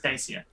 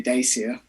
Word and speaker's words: Dacia: How'd you pronounce that? I was in the doing comments? a James May impression. He says Dacia. Okay. I have an Italian friend that shouts at you if you say Dacia.